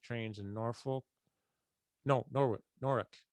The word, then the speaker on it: Norwich: in norfolk no norway norrick they call it norrick it's spelled like norwich that was the halfway point